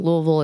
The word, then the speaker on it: Louisville: I do love Louisville Louisville is awesome and you got to say it like that Louisville like you got marbles in around but it was a